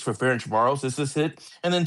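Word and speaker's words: Ferencváros: Ludogorets versus Ferencvaros. That doesn't sound right. Um, Close, close. what can we expect here? Yeah, so we got Ludogorets here against Ferencvaros, is the correct pronunciation of that one, but that was close.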